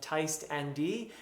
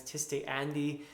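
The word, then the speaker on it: Tiste Andii: I'm also going to correct my pronunciation of Teist Andi, which I was pronouncing as Tiste Andi, and I was pronouncing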